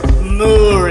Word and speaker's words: Moore: the way in Moore, which is the correct pronunciation of it. It's not more, it's Moore. It's got two O's in it.